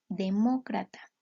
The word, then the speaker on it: demócrata: En este caso, demócrata suena más fuerte en mo, incluso lo tenemos tildado.